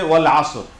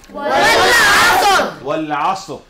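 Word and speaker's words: وَالْعَصْرِ: এটা হচ্ছে যে ওয়াল আসর, এখানে একটা উচ্চারণ আমরা দেখলাম, ওয়াল আসর, ওয়াল আসর। এই আইনের উচ্চারণটা অনেকের দেখলাম যে খুব ভালো হচ্ছে না, ওয়াল আসর, আসর বলতেছে।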